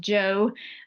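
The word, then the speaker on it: Zhou: Now moving on, you've got the Joe dynasty. It looks like Zho, that's pronounced Joe.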